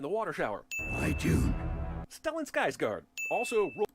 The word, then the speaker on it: Stellan Skarsgård: I actually, It's Stellan Skarsgård.